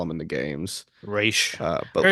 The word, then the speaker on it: Ra's al Ghul: But Or like they all call him you is Raish I think it's besides race in this. the games, yeah. Or it's Oh, is Raish it? Okay. everywhere else. Yeah, that's the proper pronunciation.